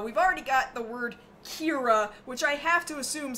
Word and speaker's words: Kira: people are calling him because it means killer but they can't pronounce it right so they say Kira there's got to be